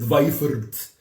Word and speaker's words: Weifert: But Serbians don't say "w" very well. I'm saying it like a Serbian says it. Weifert. Okay? I know very few Serbians who can actually pronounce W correctly. Who, what, when, where, why. W. So many people say, where are you? Decimatori. Where are you? V, not W, okay?